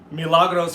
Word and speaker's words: Milagros: say somebody's name right milagros from argentina her name is pronounced milagros with the little accent over the a when you say it emmy logano says fiance